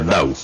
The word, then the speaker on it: Tao: En Occidente se escribe T-A-O, aunque se pronuncia Dao.